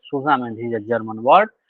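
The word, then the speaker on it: zusammen: And the Susamen, this is pronounced as Susamen, this is a German word, and it is pronounced as the Susamen.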